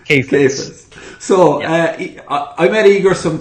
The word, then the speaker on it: Kheifets: It's Kheifets. Kheifets.